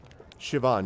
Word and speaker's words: Siobhan: don't yes exactly shadowed siobhan yeah yeah yeah that's right so sio b becomes basically shove essentially but i still that is something which my brain and that does not click together shivan yeah but something about